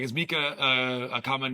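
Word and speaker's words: Mieke: It's Mika, a common German girl's name, similar to our Michelle. It's not. It's not. I've asked German friends, I'm like, is Mika a common name?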